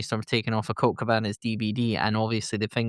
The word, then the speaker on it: Cabana: Um because he's like, "I'm the winner of the fork, Cork Cabana." And I was just stop laughing. Yeah. Doesn't matter what what country you're in, his surname rhymes with banana.